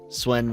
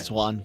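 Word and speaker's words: Siuan: The Swen was. Did I say her name right? Amlin Swan. Yeah. Swan.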